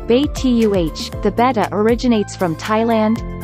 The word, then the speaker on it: betta: origin of the betta the bettas are also known as siamese fighting fish pronounced bait tuh the betta originates from